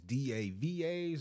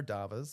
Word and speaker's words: DAVAs: I don't know if it's DAVAs or do you all call it DAVA? How do you pronounce that? Yeah, so our domestic abuse victim advocates, we call them our DAVAs.